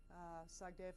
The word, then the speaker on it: Sagdeev: Well, his name is Roald Sagdaev, Sagdeev, of course, in Russian, you always put the syllable in the middle, the accent on the middle syllable.